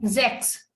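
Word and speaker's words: sechs: then sex is called sex six is called sex s is having z sound okay and this s is having s sound so we say sex okay ch combination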